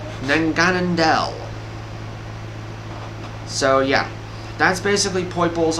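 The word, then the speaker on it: Naganadel: Now, Poiple's evolved form is called, I'm going to try to pronounce this correctly, Nanganandel. So yeah, that's basically Poiple's evolved form is Nanganandel. Nanganandel.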